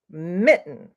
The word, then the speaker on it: mitten: kitten kitten and Mountain I'd like to add Mitten which rhymes with kittens so I'll write them